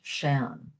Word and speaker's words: sean: Interestingly, the word, how we spell Sean here in the United States, S-E-A-N, is the word for old in Irish, and that's pronounced Shan.